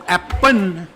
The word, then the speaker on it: Appun: suppose, Babun, and also Appun, very often, apple. Apple. But because of the L at the end of the word is unpronounceable to Thais, so it becomes Appun, shortened to Pun, which means gun.